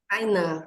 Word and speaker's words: Tainá: tudo bem boa tarde é assim que pronuncia Seu nome é Tainá mesmo Tainã isso boa prazer eu sou a